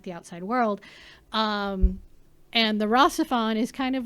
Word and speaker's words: RahXephon: It's pronounced RahXephon.